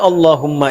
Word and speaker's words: Allahumma: Maka adabnya ketika diucapkan Allahumma itu jangan meninggi.